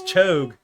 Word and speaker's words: Cho'Gath: It's Chogue. You're a The ath Chogue. is the second half of that syllable. It's not gath. It's ath.